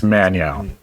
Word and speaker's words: Manyawu: It's Manyao. It's very simple.